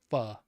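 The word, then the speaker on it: phở: Um, yeah, pho, pho, but it's pronounced pho.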